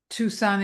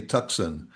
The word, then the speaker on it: Tucson: Where Tucson, Arizona. That's That's the Yeah, Tucson, but but it's t u c s o m. And some might say Tucson.